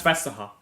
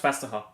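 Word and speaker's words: Vestergaard: expect it to pronounce it right no that's fesa that is pronounced fesa yeah half of the letter audence pronounced in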